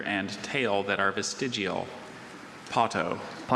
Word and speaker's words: potto: Potto.